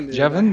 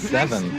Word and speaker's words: Devin: So, not Jevin, that's not Jevin, that's in the chat, but Devin.